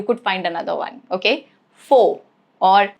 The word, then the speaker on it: Faux: It is silent at the end of a word derived from French.